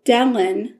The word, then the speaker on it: Dellen: on a guy named dellen so it's like ellen but with a d call it dang so